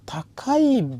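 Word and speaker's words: 高: আবার কোনো করে ওয়া তাকাই বিরু দেশ, মানে খুব উঁচু বিল্ডিং, 2 কেজি তাকাই ব্যবহার করে, সেটা প্রেক্ষাপট অনুসারে চিন্তা করতে হবে আমাদের।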